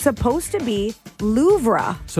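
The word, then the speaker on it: Louvre: According to Babel, it's supposed to be Loura. So, you're pronouncing it how it's spelled cuz there is an R in there.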